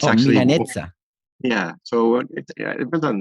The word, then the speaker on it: Milanezza: Okay, so the right way to say Milanesa, instead of saying Milanesa like an actual Milanesa, I'm supposed to Right. say Milanezza. Yeah.